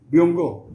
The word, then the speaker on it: Byungho: How do I pronounce it correct? Byunggo? Yes. Byunggo. Yes.